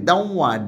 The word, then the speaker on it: দেওয়া: হ্যাঁ, তারপরে বশ্রুতি দেখো, বশ্রুতিটা কীভাবে হচ্ছে, এই যে দেওয়া, উচ্চারণ কি দেওয়া, ডি ডি ই ডি ই ডব্লিউ এ, এখানে ডব্লিউ, অর্থাৎ একটা ওয়াইয়ের মতো সেমি ভাওয়েল, ওয়াইয়ের মতো উচ্চারণ হয়।